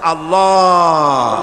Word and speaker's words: আল্লাহ: আল্লাহ পাকের উচ্চারণটা হচ্ছে আল্লাহ পাকের নাম হচ্ছে আল্লাহ মুখটা একটু গোল হয়ে যাবে বলেন আল্লাহ আল্লাহ পৃথিবীতে বিভিন্ন জাতি